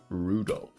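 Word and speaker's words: Rudolf: Anyway, this guy's name is pronounced Rudolph.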